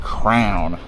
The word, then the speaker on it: crayon: Apparently a significant portion of the US pronounces that word crown when it's clearly spelled crayon.